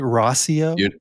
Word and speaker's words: Rauseo: His name is Jeff Rosio. I pronounced that right? Rosio.